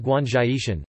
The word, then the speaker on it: Guanzhishan: Haitan National Park, Fujian; Guanzhishan National Park, Fujian, locally pronounced Guanzhaishan; Wangwushan Yuntaishan National Park,